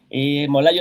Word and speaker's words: Molay: Y pues acá nos vemos, Molay Maza, me encuentran en Facebook, Molay-Maza en X, Molay otra vez en TikTok, y ahí ¿cómo se llama el otro?